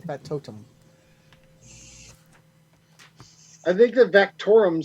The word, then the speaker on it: factotum: I kind of like the word factorum better, but I know that you said it wrong. I did say it wrong. Factotum.